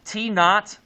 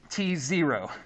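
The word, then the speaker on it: t₀: Now, it's pronounced t naught, not t0. And it's not to.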